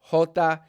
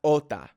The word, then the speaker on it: jota: with a J here so the sound is Jota is not ulta all right I was